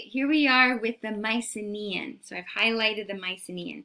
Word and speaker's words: Mycenae: Mycenaean. The country, or I should say, the culture, is referred to as Mycenae. Mycenae. Got it?